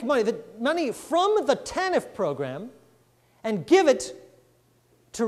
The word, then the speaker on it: TANF: After 1996, welfare became TANF, Temporary Assistance for Needy Families, with the accent on the T, accent on the temporary.